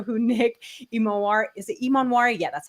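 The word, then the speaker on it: Emmanwori: If you guys do not know who Nick Imonwari, is it Imonwari?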